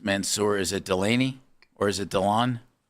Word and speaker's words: Delane: Ree, David Bailey, um Dan, how do you pronounce Mansour? Is it Delaney or is it Dylan?